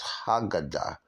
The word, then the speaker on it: Aggadah: The agadah, sometimes you'll see it pronounced as haggadah, because it's ha as the, okay?